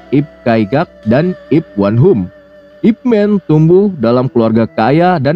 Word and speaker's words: Ip Man: asli nama dia ya jadi Ipman adalah pelafalan internasional yang resmi karena di dalam paspor guru Ip juga namanya Ipman ada juga yang manggil yipman Nah itu cuma sebutan aja ya guys panggilan aja ya guru Yip gitu Begitu